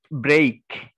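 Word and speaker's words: break: না দেখতে পারছে না ব্রেইক বি আর ই এ কে এটার সঠিক উচ্চারণটা হচ্ছে ব্রেইক মানে ব্রেইক এবার বি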